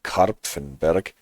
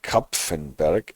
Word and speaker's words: Kapfenberg: Krieglach, Mitterdorf, Kindberg, Kapfenberg. I always have to pay attention that I don't read Karpfenberg, but it is Kapfenberg actually.